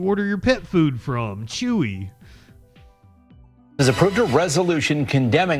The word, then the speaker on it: Chuy: Critics say Chewy. I didn't expect it to be pronounced Chewy. The motherfucker is the place you order your pet food from. Chewy.